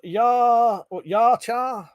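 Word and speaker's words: Yautja: Pete said the predator race is pronounced Yarchar.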